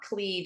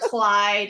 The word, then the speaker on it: Kleid: Am I getting your last name pronounced correctly? It's actually Clyde. Clyde. Okay, I said it and I'm like, it's not Kleid. I think it's Clyde. So Amber Kleid is a yoga instructor